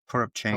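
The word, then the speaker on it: Toropchenko: Torupchenko.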